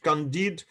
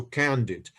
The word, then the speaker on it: Candide: read Candide or this, well, I put Candide the stress on the second syllable because it was written in French. Uh, but we can say also Candide.